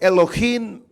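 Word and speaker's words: אלוהים: mente quiere decir bueno lo voy a tratar de pronunciar en el idioma hebreo es elohim me alejé de net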